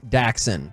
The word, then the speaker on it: Daxon: The Cowboys picked up Denzel Daxon. Whoa. Denzel Daxon. Okay. I almost said Dixon. That's incorrect.